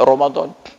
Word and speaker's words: Ramadhan: sampai satu saf sedangkan Romadhon memang tertulis ra m a d a n Ramadhan tapi dibaca Romadhon jadi paling tidak taat